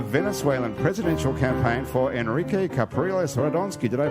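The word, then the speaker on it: Capriles Radonski: Marcel is the communications coordinator in New Orleans for the Venezuelan presidential campaign for Enrique Capriles Radonsky. Did I pronounce any of those words correctly?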